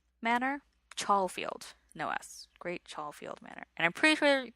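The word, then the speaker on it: Great Chalfield: which is strange because you pronounce it exactly the way it looks which rarely ever happens in England but it part part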